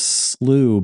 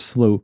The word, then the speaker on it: slough: And it's spelled Slough. So is it is it Slough? Bill Moore's Slough? But actually, if you look this up, it seems like in America, if American English, they say slough, apparently, according to the internet.